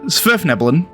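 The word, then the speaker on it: svirfneblin: deepenomes also known as zverf nebulon this is how you say this word by the way it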